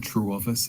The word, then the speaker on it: Trewavas: a good move uh so I'm Simon true office it's a very old English Cornish surname so it's